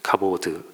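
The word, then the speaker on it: כבוד: 했습니다 아이 영광이라는 단어는 카보트 아는 카보트 카보드 또는 카보트 이렇게 발음을 하는 헬라어인이 카보트 아는 단어 아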